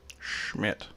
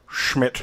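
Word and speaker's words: Schmitt: by the name of carl schmidt schmidt and you have to pronounce that way because he's german fella schmidt carl schmidt and his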